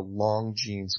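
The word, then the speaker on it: Longines: on the CBS affiliate for the television show Long Jeans Chronoscope, which is spelled L-O-N-G-I-N-E-S.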